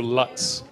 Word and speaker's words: Lutz: Yeah, well, because I wrote down, but when you email it down, nobody pronounces Lutz, right? They do Lutz, but it's Lutz, right?